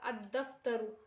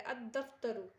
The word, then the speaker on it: الدفتر: داخل ہو جائے گا الدفتر، الدفتر یعنی لام کو نہیں پڑھا جا رہا ہے الدفتر، تو حروف شمسیہ کے